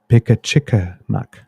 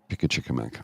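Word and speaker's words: Pimicikamak: Oh, I'm getting a pronunciation check here. Pickachickamack. Pickachickamack.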